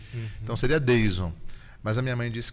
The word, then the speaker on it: Dheison: com professora, você também, meu nome se escreve Deison, é D-H... Na verdade, eu chamei a primeira vez que eu vi escrito Deilson. Não, o Wilson, Deilson, é isso. Mas assim, seria Deison, né?